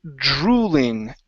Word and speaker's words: drooling: Um, next up is uh the word drooling. Drew. Drooling. Drooling. Okay, one more time with an L. Focus on that L at the end.